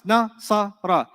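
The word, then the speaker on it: نَصَرَ: I said nasara, right? You know what syllables are? Separate sounds. Nasara. How many separate sounds did you hear?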